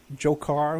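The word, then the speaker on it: Dzhokhar: today when the that guy jokar who just happens to to rhyme with Joker from Batman you know so weird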